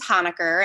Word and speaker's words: Honaker: it's hana good so my last name is hanaker and so hana goods is the business name so how did that